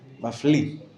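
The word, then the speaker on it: מפליא: The Aleph is silent at the end of Mafli. Mafli.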